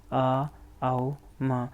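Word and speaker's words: ॐ: ओम 3 शब्दों से मिलकर बना होता है, आ, आओ, म।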